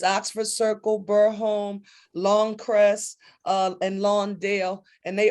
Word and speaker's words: Burholme: And how do you pronounce that last one that I skipped over? Was it Burholme? Yeah, Burholme, yes.